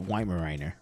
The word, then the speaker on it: Weimaraner: I can't spell it. Weimaraner.